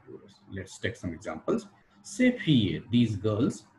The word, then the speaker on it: ces: or lose this clock last one is ces plus plural cs will be pronounced like c before consonant starting plural and it will be pronounced like sage before bubble started or h mute starting tourist let's take some